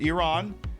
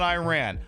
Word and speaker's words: Iran: I I usually issue this every couple of months when the saber rattling starts uh by by America and Israel, but it's pronounced Iran.